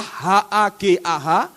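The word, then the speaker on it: הגה: Tulisannya Hagah, H-A-G-A-H, Hagah, bacanya Hagah.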